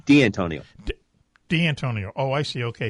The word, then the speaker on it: D'Antonio: D'Antonio, is that how we pronounce his last name? D'Antonio.